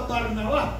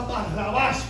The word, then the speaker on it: Barrabás: lo crucificaran le tocaba a barnabás Por qué Y tú dices a barrabas Perdón que no lo pronuncié correcto barrabas porque barrabás era parte